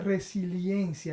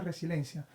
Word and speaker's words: resiliencia: muy utilizada últimamente y se escribe resiliencia y la gente dice resilencia okay Y eso se